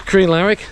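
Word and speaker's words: Crianlarich: the plan as the captain will confirm is Korean Larrick that's how you pronounce it to bridge of orky now not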